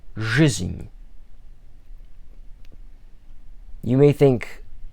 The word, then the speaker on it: жизнь: it out phonetically, the The first Russian letter is zh, as in the word Asian. So zh, then you have the Russian equivalent of an E, a Z, an N, and then a symbol that lets you know that that N is pronounced as an Enye. And you'd pronounce this as жизнь.